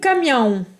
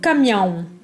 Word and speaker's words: caminhão: O caminhão. Alors, vous remarquez que le A avec la tilde se prononce en. O caminhão.